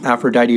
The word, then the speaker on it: Aphrodite: is a pronunciation guide aphrodite rhymes with mighty they do that for